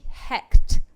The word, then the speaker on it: Hecht: __ ] no no his last name was h-e-c-h-t hect richard hecht very different how did you get